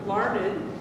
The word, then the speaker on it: Larned: Okay, how do you pronounce N-E-D? Larned. N-E-D, it's pronounced Ned. Ned. Yes. Okay, it's pronounced Ned, not nerd, you nerd.